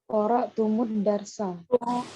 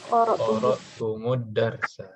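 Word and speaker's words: قرأتم الدرس: Nih, misalkan qara'tum ad-darsa. Jadi apa ini, Qara'tumud darsa. Qara'tumud darsa. Qara'tumud darsa. Ya, cara bacanya bisa begitu. Untuk tum dan kum, ya.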